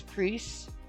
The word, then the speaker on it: Priest: It's not Price, it's Priest.